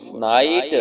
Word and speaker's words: night: नून अलिफ ना हमजा छोटी आई नाई ते मकुफ नाइट, नून अलिफ ना हमजा छोटी आई नाई ते मकुफ नाइट। GH यहाँ पे साइलेंट, खामोश रहेगा, ठीक है जी।